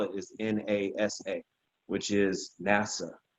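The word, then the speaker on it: נשא: pronounce it and the way that you would spell it is nasa which is nasa how we would say it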